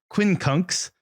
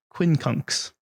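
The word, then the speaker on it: quincunx: skills yeah there you go your word is Quinn kunks I don't know that I'm pronouncing it correctly but it is spelled q-u-i-n-c-u-n-x Quinn conks what is Queen kunks Devin um when kunks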